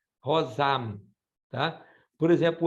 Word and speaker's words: rosam: no M em português, rosão. Tá? No português, a gente não fala o M, a gente solta ele pelo nariz. Por exemplo, comprão. Mas o latim e outras línguas pronunciam M, rosam.